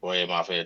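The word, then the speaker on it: Boye Mafe: Boy Mafe, that's his name.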